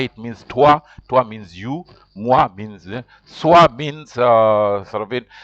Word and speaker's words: moi: In French, when O and I meet, it is pronounced like wa. That's why you say that's why MOI is moi.